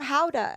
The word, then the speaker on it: Gouda: And he was like, these are from Howda. And I was like looking at the packaging and it says Gouda. But I'm like, wait, what? And he's like, yeah, that's how you say it.